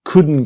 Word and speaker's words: couldn't: The T is silent, so it becomes we couldn't go.